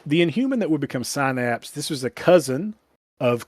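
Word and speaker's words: Psynapse: No silent p at the beginning. And this is different. A different more of a syninnapse for that one and more of a sinapse for this one.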